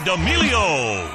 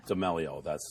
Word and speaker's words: D'Amelio: D'Amelio. I always get it wrong. Yeah, how do you say it? I say D'Amelio, but I do that. I just get everyone's name wrong.